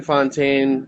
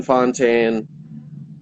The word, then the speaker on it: Fountain: __ ] it so my name fontaine b-r-y and spelled like fountain uh fontaine i'm on every streaming